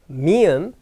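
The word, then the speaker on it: 미음: what M me m the letter is called mium but how do you say that m okay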